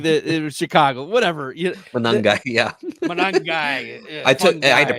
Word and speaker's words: Monangai: after Jarquez Hunter, going after like RB3s, Kyle Monangini, like the Chicago, whatever. Monangai, yeah.